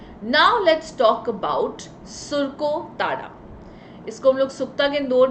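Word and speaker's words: Surkotada: Now let's talk about सुरको ताड़ा.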